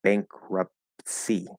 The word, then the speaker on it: bankruptcy: like wiped clean but the full pronunciation right the full enunciation of the word is bankruptcy so we have the the t and the s almost kind of blend you push the s through the t but the t and